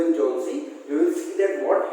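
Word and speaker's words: Johnsy: It is a very bad pronunciation. Okay, so the name is Sue and John C. Not John Cena.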